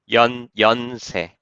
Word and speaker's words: Yonsei: So, how do you pronounce Yon? Is that Yonsei University? Yonsei.